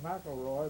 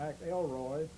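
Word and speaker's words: McElroy: And the one who set the world record was a man Ted, I call him Mroy, but he pronounced it M. Elroy.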